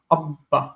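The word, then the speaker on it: אבא: It is doubled, but don't pronounce it as doubled. Like in English. In English, we say better. We don't say better. Better. There are two T's, but you don't pronounce two T's.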